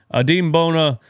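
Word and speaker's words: Adem Bona: His name's not Adam, it's Adim. Adim Bona had 6 blocks in this game.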